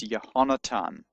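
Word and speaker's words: יהונתן: So actually the name Jonathan in Hebrew is Yehonatan in modern Hebrew pronunciation.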